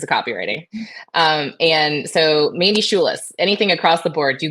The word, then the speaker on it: Schulis: And so Mandy Schulis, anything across the board, you Google Mandy Schulis, you can find, and it's SCHULIS. Everybody, I always say it's spelled like school with a U-I-S.